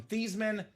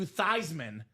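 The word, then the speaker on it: Theismann: University of Notre Dame PR staff said, "Hey, Joe Theman, let's change the pronunciation of your last name from Theman to Thyman so it could be Thyman for the Heisman."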